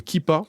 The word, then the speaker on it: Keepa: prix c'est une extension Google Chrome qui s'appelle kippa ça s'écrit keepa juste vous l'ajoutez à Google Chrome